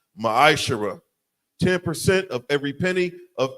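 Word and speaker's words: מעשר: tithe which is a commandment the book of numbers 18 21 book of Malachi chapter 3 8-10 means 10th in the Hebrew is pronounced masher 10% of every penny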